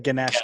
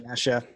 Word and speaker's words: Ganesha: It's like Ganesh, Yeah. Ganesha. I don't know which one's right. There you go. There you go. Like That's Ganesh. It's an extra syllable for Ganesha.